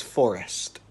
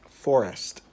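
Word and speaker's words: Sssst: No, this is a capital S, small s, small s, small s, small t. I am going to give you 5 seconds to guess the pronunciation of this child's name. 5, 4, 3, 2, 1. This child's name is Forrest. Get it? Forest. It has 4 S's and a T.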